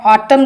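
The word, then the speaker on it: autumn: ऑटम बोलते हैं तो एन साइलेंट रहता है।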